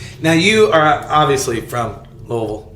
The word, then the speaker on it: Louisville: So no, it's Louisville.